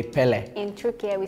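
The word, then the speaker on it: Pelé: yeah but like the the last e is really strong like we do like Pelle I think the last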